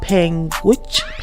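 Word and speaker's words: Panguitch: know but yeah this happening you it's called penguich language p-a-n-g-u-i-t-c-h yeah you said you said it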